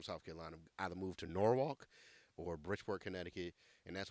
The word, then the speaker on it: Norwalk: Carolina either moved to Norwalk or bridor connectic and that's why everybody who lives in Norwalk that's black pronounce it nwok that's very country but anyway